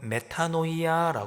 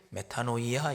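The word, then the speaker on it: μετάνοια: 하면서 회개라고 하는 단어에 헬라어 표현은 발음은 메타노이아 발음합니다 헬라어로 회개를 메타노이아 이렇게 발음합니다이 메타노이아 하는 단어의 원래의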